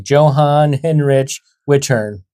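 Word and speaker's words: Johann Hinrich Wichern: That's a J, not a Y. That's a CH, not a K, but that still happens in regular English.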